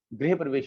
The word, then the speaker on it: गृह प्रवेश: सही शब्द जो है, सही उच्चारण जो है, घर का गृह प्रवेश होता है, ठीक है ना।